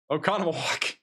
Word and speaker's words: Oconomowoc: Oconomowoc. Got the Google pronunciation here for a reason.